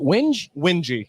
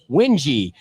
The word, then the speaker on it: Winge: Is it Winge? Wingy. Yep. So that's a great name. Oh, thank you. Wingy. Like that.